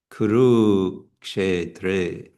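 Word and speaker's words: कुरुक्षेत्र: So we have actually 4 long syllables here because a is always long. So it's dharma, kshetra, and then we have a short kuru, but the second u is going to be long, kuru, kshetra. Why is it a long U?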